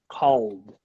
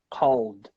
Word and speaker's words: called: the word call o the L sound such a difficult sound especially for us Brazilians oh my goodness oh the old sound we should pronounce it as a D guys called called good number six the